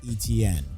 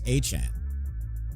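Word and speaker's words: Etienne: That Yeah, he let everybody know that that's actually how you pronounce his name. It's not ETN, it's HN.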